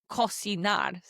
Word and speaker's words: cocinar: sounds like an S, but before the letters A-O-U, it sounds like a K sound in English, like cocinar.